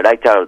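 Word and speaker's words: Reichardt: ねそのケリーケリーライキャルトっていうまドイツ系の名前だと思うんですけどもあ英語ではライチャって読むんですがうん監督さん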